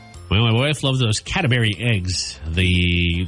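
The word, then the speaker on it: Cadbury: my wife loves those catry eggs the like the cream filed or caramel say catry catry not catberry catry no I did say it you're right I said it wrong catberry eggs why what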